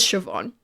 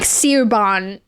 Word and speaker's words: Siobhan: Shut the Yeah, it it looks like Seuban when it's spelled.